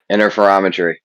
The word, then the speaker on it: interferometry: Interferometry.